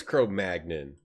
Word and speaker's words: Cro-Magnon: How to pronounce Cro-Magnon. Let's go. Cro-Magnon. Yeah, it is Cro-Magnon, according to this YouTube video, and I trust